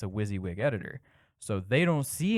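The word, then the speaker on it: WYSIWYG: on the user side of things it's a wizzywig editor so they don't see any of that uh what you see is what you get oh that's wizzywig um okay that's it's an acronym so kind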